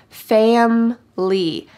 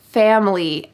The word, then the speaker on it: family: five years family family notice the pronunciation here in fast english we drop the middle eye fam lee family i love spending time